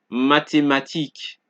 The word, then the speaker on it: mathématiques: Thus, TH is pronounced like T. Example, mathématiques, thème, T.